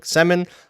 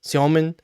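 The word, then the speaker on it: Сёмин: And he was talking about like different conventions of Russian pronunciation, and he talked about like for a lot of North Americans calling Alex Semin, whereas it's really Siomin, and like that is one that I can pretty easily do.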